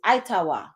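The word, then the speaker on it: Hightower: get over there because high tower okay we we pronouncing it like that today but the actual pronunciation of it is itawa that eer is English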